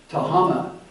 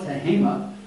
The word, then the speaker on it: Tehama: By the way, it's not exactly pronounced Tehama. We call it Tehama, and it's not Siskiyou.